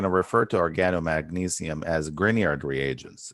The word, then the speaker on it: Grignard: refer to organomagnesium as grignard reagents it's a very very popular name in organic chemistry grignard reagent so that g is silent are typically prepared by